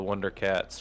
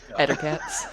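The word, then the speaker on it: Ettercaps: He's mispronouncing Elder Caps or whatever they're called. Ettercats.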